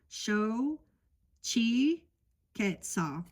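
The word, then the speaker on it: Xochiquetzal: So it's show chi quetzal. I'm so grateful that they put the how to pronounce it in here.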